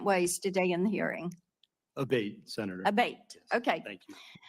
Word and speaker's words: Abate: I saying your name properly we've heard it pronounced three different ways today in the hearing aate Senator aate okay thank you camela um you